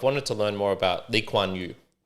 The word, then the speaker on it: Lee Kuan Yew: to learn more about Lee Kuan Yew. So Lee Kuan Yew, I believe is how you pronounce it.